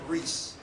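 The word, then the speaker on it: Riis: Jacob Reese, right? Scandinavian immigrant, Danish immigrant, Jacob Reese.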